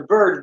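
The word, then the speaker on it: Byrds: Okay, so that's the Birds, but it's spelled B-Y-R-D-S.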